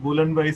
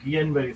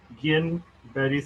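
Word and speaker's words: Guillain-Barré: First of অল, উচ্চারণটা কিন্তু গুলেনবারি syndrome না, এটা কিন্তু গিয়েনবারি সিনড্রোম। ঠিক আছে? জিবিএস এই শব্দটা, ভদ্রলোকের নাম হচ্ছে গিয়েনবারি সিনড্রোম।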